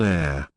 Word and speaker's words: heir: For example, an hour, an heir, an honorable man. An honor, an apple. NB, H is silent in honor, heir, honor, and the words derived from them.